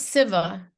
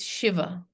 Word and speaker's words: Shiva: it like this and it's not civa it's Shiva so again I'm skipping ahead